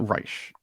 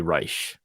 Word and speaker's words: Reich: right I don't know who is he pronounces it Reich he says Reich well he doesn't want to be like Third Reich he wants to be Reich okay exactly so Robert